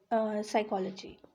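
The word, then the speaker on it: psychology: अब आता है हमारा साइकोलॉजी साइकोलॉजी ठीक है अब इसमें दो शब्द हैं ठीक है इसमें भी पीस साइलेंट है साई के और लॉस ठीक है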